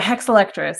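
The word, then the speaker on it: Hexalectris: And then you you study the rare actually to do it justice, can you pronounce the name of the rare orchid? you study in Texas? Yeah, hexiletris.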